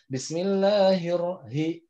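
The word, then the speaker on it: بسم الله الرحمن الرحيم: Nagita Bismillah hirohman high padahal itu rumah harusnya Bismillahirohmanirohim Bismillahirohmanirohim Bismillahirohmanirohim bismillahirohmanirohim Allahu Allah makhroj yaitu nya jangan sampai kita baru saja bismillah udah salah itu karena bisa dalam tenggorokan ditenggorokan bawa itu terdengar seperti ada powernya Bismillahirohmanirohim bismillahirohmanirohim itunya Bukan Iki nanya Hai yang nyobain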